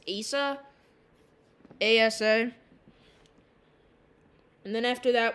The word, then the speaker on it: Asa: I know it's pointless, and I shouldn't really be using it, but currently our next name is, I'm not sure how to pronounce it, but I believe it's Asa.